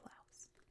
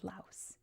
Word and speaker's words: Laos: Maybe I got to try beans from somewhere like Laos. Also, I should say before anyone comments, I know it's pronounced Lao. I know it is. It's Lao in almost every language including the Lao language.